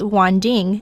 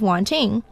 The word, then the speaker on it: Wanting: me by my neighbor my neighbor likes to pronounce my name as wanding instead of wanting just to tease me